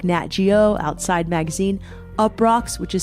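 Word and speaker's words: Uproxx: travel writer for publications like NatGeo outside magazine up rocks which is spelled UPR oxx and more it's a really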